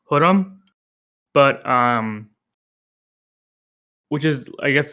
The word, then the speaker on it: Khurram: If you know me, me calling myself Khurram might sound weird because the K is silent. It's actually pronounced Khurram.